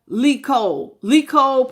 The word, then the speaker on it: Licole: You said like Nicole, but pronounced with a Lee. Licole.